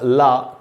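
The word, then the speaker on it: les: एस का उच्चारण नहीं होता है, एस साइलेंट होता है।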